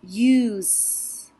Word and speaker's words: use: looking at this one the e at the end is silent and what it's going to do is going to pinch that u and make it say you so this is not us this is use use the ox will